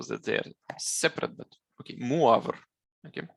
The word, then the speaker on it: Moivre: they're separate, but okay, Moivre. Okay. His name is French, so they don't, so those E and S, they don't pronounce it, okay? And this O and I is pronounced UA.